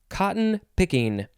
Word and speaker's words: cotton-picking: the first word is cotton picking two words with a hyphen um you could also say cotton pickin that's one of the pronunciations in here adjective from circa 1952 1.